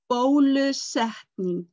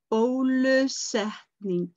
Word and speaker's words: bólusetning: then you will be asked if you have been vaccinated, and it is bólusetning. Bólusetning.